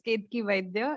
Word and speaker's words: Ketaki Vaidya: So my name is pronounced as Ketaki Vaidya, and I get that it's very difficult for people to pronounce.